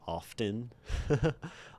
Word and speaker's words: often: If you have free will, you'll pronounce the T in often.